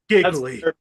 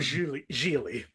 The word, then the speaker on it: Gigli: That's Giggly. oh god, that's hilarious. Matt, are you aware of Gigli?